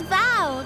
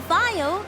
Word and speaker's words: Val: It's Val, not Vile. That's how you say it.